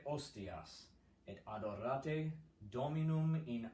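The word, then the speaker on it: hostias: Tolite ostias, no H, you just cross that H out, no aspirate H there.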